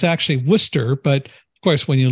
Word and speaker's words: Worcester: We know it's not pronounced Worcester in Massachusetts. It's Worcester.